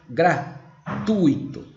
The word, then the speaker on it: gratuito: copo tá certo né 24 o ingresso é gratuito lembra que eu falei agora de pouco para vocês a pronúncia correta é gratuito e o acento não é aqui não tem